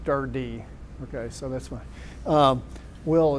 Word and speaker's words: DRD: Some people say Dr. it stands for, but the way you pronounce it is DRD.